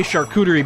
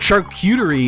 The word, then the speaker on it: charcuterie: it's fine to say charcuterie because that's how you pronounce it in english like that's the designated english pronunciation of it but shark cutery isn't correct i had